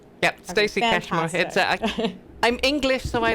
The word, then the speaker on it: Stacy Cashmore: Is it Yep, you Stacy pronounced it Cashmore? right. Yep, Okay, Stacy Cashmore.